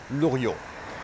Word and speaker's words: Loriot: known under his earldom Luo spelled like this the T is silent he was without any